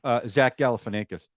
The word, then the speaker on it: Zach Galifianakis: Zach Galifianakis.